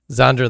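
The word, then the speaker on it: Xandra: to pronounce it but is it Zandra yeah Zandra the high of Queen the X thing throws you off um put it in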